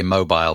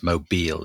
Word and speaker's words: Mobile: It makes me want to say mobile, but it's not. It's mobile. That's the way the GPS refers to it whenever you're like, get on the interstate for mobile. Well, because that's the way it's spelled.